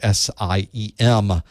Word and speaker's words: SIEM: That's how you pronounce that weird word, SIEM.